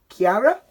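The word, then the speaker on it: Ciera: This is spelled C-I-E-R-A, Chiara, and the mid-size G-body Supreme platform.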